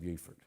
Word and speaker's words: Beaufort: Actually, Beaufort, South Carolina is the only one that pronounces it Beaufort. They got it wrong.